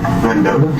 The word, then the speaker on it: Mendota: Mendota?